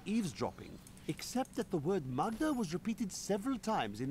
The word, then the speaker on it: Maghda: Toward Magda. That's not actually how they say it in this game. It's Magda. Magda. That's how the wizard says it.